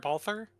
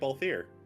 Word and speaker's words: Balthier: Balther from Final Fantasy XII? Hero wasn't pronouncing it Balthier.